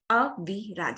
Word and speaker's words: Aviraj: Aviraj. So there is a kind of a break there. That rhythm is there. Aviraj. So here he's got 3 syllables.